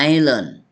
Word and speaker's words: island: isand is island Is ใช่ ตัว s ตัว s ไม่ ออก เสียง ไ is เกาะ ตารูเตา